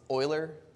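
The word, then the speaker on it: Euler: you've seen project Oiler it's Oiler not uler like you might think you will endear yourself to mathematicians if you pronounce it correctly umal uh Swiss right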